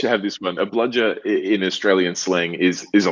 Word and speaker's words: bludger: Is that how do you pronounce it? Bludger.